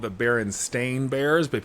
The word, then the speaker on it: Berenstain: The Bernstein Bears. How it's spelled, right? Yeah, it's actually spelled the Berenstain Bears, but people think it's the Bernstein Bears, Stein, and it's not. It's Stain.